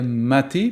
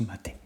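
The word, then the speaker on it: MATE: ma Ubuntu maté et on dit bien maté puisque après recherche c'est le nom d'une boisson donc ce qui se prononce ma tête donc c'est juste le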